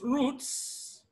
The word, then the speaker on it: roots: Roots, because of T, all right? T is a voiceless consonant, and then the ES, which is the plural morpheme coming after the voiceless consonant, is always pronounced as S, so we have roots, not roots.